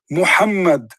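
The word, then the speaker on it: Muhammad: say is how do you say it correctly mohammed mohammed mohammed rasoolallah this is his name what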